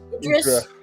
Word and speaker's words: Idris: How the hell do you pronounce that? I r Idris.